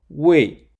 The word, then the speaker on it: 未: This connects the imagery of a tree without fruit to the character, Wei.